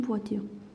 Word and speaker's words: voiture: car, just a car in the world, une voiture. If I want to say the car, well, I mean this car in particular, it's la voiture. Et voiture, il est wa, ici. Wa, ture, voiture.